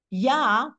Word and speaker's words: Yah: which we pronounce Adonai but sometimes we use yah we sometimes we use that name when we say the word halelu yah that means give praise to yah to God so that is what's